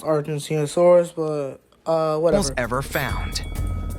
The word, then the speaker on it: Argentinosaurus: an Argentinosaurus among them the biggest an it's pronounced Argentinosaurus but uh whatever ever found it's hard to